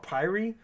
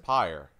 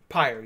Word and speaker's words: Pyre: I kept calling it Pyre, but it's actually pronounced Pyre. Pyre, yes. It's fire with a P.